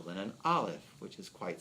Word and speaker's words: Aleph: Now, in the Aleph Beit, I'm giving you a little mystical insight here. Aleph, because it's a silent letter, it is the highest,